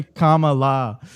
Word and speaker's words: Kamala: saw I saw someone in the chat say Kamala yeah we're saying it wrong I got yelled